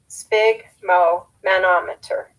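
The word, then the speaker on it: sphygmomanometer: device that measures pressure spig which rhymes with big relates to blood broken into its parts it is spig Mo manometer the skill we are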